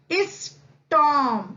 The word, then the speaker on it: storm: स्टॉर्म, यहाँ पे भी बच्चों आर को हम साइलेंट पढ़ेंगे। स्टॉर्म यानी तूफान, STORM, स्टॉर्म यानी तूफान।